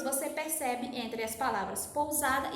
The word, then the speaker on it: pousada: Pousada e consecutivo, né? A diferença é que o uso da letra S entre vogais ou entre consoante afeta a sua pronúncia com som de Z, certo?